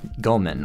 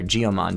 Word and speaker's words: Goemon: the mystical ninja starring Goemon or G Oman depending on how you pronounce it whether you're from the Americas or overseas or from Japan alright yeah that's the blue